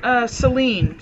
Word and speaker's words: Selene: does she pronounce it she pronounces it Selene Selene of Lesbos is how she pronounces it so her fest